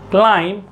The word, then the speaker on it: climb: यहां पर बी क्या है? साइलेंट है।